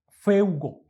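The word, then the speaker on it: φεύγω: en el griego traducen un verbo que es feugo, así se pronuncia en griego, feugo.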